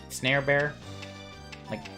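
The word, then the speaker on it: Snarebear: you then snare bear-like supposed to rhyme with Care Bear but you know snares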